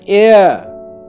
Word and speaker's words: heir: But the pronunciation of all these three words start with a vowel sound because the letter H is silent in all these words.